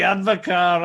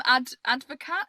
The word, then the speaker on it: Advocaat: I had some Advocaat. Is that how you pronounce it? Yeah, well, there's some debate of it. Isn't it Dutch? Advocaat. Yeah. So I think, do you pronounce the T?